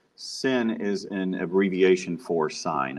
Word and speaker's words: sine: tan is tan so a lot of people want to call this sin but it's not sin sin is an abbreviation for sine it's one letter abbreviation